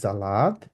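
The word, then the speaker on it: Salat: হচ্ছে এখানে যার মানে এস কে জেড এর মত উচ্চারণ করা হয় আর জেড কে এস এর মত উচ্চারণ করা হয় একটা একটার বিপরীত এখানে যেমন এস দিয়ে আমরা বলবো হচ্ছে জালাদ জালাদ জালাদ এক্সাক্টলি আর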